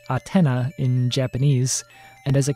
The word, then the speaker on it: Athena: other snk games notably the nes game athena pronounced atena in japanese and as a character in king